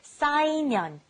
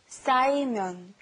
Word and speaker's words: 쌓이면: The first one was 쌓이면, to pile up. Be careful with the 싸. 쌓이면.